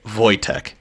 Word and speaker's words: Wojtek: Yes, you pronounce it Wojtek.